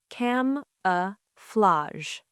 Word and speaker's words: camouflage: Camouflage. That word is a little hard. Let's say it slowly. Cam-a-flage. Cam-a-flage. Good. Many people pronounce the last part like flage.